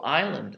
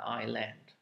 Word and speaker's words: island: of man um so island also there's an s and although it's a second uh letter you don't pronounce it you just say island it's kind of like